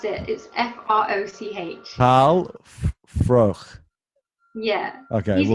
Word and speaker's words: Froch: Carl Froch, and I can't pronounce it. It's Froch.